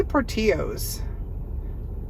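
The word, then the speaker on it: Portillo's: thrift store said it was how did she pronounce it pellas pellas pellas I say Portillos I'm saying Portillos so we're going to go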